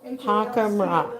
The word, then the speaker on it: Holcomb Rock: But okay, Hokum, Well, Hockham- it's spelled Hockham Rock. H-O-L-C-O-M-B, but it's pronounced- Holcomb Rock. It's Hockham Rock.